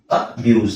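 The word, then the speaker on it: abuse: ಅಲ್ಲ ಅಬ್ಯೂಸ್ ಅಬ್ಯೂಸ್ okay ಅಬ್ಯೂಸ್ ಅಬ್ಯೂಸ್ ಸೊ ಇದು ಎಸ್ ಅಬ್ಯೂಸ್ ಅಲ್ಲ ಝೆಡ್ ಮಾಡ್ಕೊಳಿ ಯಾಕಂದ್ರೆ ಇಲ್ಲಿ ಝೆಡ್ ಇದೆ ನೋಡಿ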